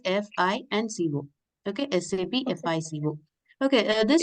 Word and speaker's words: FICO: Okay, we should call it as FI and CO.